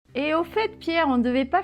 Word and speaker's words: au fait: Donc, première expression, c'est au fait. Oui. C'est bizarre qu'on prononce le T final, non?